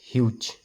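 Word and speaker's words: huge: নামটোৰে সাউন্ডটো হৈছে ম ইউ ত মিউট ইটো সাইলেন্ট হৈ আছে হ ইউ জ হিউজ হ ইউ জ হিউজ জিটো কেতিয়াবা গ উচ্চাৰণ হয় জ উচ্চাৰণ হ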